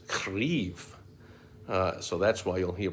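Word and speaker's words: Kyiv: spelling the ukraine's pronunciation the ukrainian spelling and pronunciation is krief so that's why you'll hear people at least saying instead of kiev kiev is a nod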